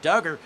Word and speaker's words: Duggar: Now, Tana in the chat says Duggar pronounced like Doug, like you dug something up.